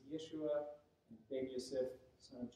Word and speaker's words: Yeshua: But yes, we would find a rabbi named Jesus, except he wouldn't have been pronounced Jesus, Yeshua, and Ben Yosef, son of Joseph.